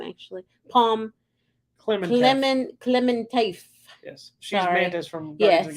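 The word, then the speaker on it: Pom Klementieff: Pom Clementif.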